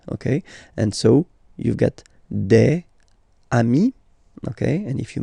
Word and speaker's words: des: S at the end and as we said you don't pronounce it so you get de okay de so un